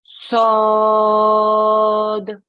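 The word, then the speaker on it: ص: One more time, yeah, but when we get to the sound at the end, yeah, take your tongue off the top of your mouth, okay, so that you make a bouncing sound.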